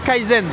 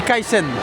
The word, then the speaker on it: Kaisen: On dit pas Kaizen, on dit Kaisen avec un S.